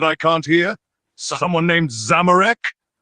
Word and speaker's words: Zamorak: Someone named Zamorak? Not what I'm saying at all. My name is Zamorak, not Zamorak.